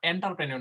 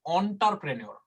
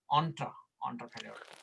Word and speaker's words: entrepreneur: আচ্ছা, উচ্চারণটা এন্টারপ্রেনিউর না, অন্টারপ্রেনিউর। Entrepreneur.